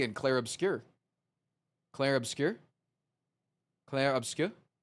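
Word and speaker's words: Clair Obscur: But people told me I was a white guy for saying Clare obscure, but that's how they say it in the song.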